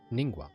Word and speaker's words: Ningguang: Ningguang. I've been pronouncing it right.